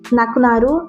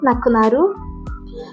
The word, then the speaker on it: 亡くなる: Ele tem a mesma pronúncia, nakunaru, nakunaru, com o mesmo intuito,